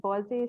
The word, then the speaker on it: Boise: Is it Boise State University in the US? Darn close. Yeah, Boise State.